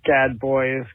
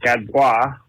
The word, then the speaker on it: Gadbois: This is Gadboys calling from the lovely Maine. You can also pronounce it Gadbois.